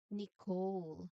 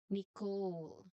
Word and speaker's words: Nicole: And that is Nicole. Silent letter is the letter E. So that is Nicole. Again, Nicole.